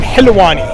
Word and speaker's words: Halawani: Coach, with the right pronunciation, Halawani. Like Hilu, yes. Hilu in Arabic means sweet.